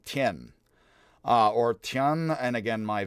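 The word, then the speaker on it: Thiền: Spelled T-H-I-E-N, Tien.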